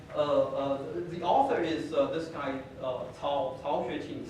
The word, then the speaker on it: Cao: So the book was written by, the author is this guy, Cao Xueqing, CAO actually pronounced Cao in Chinese.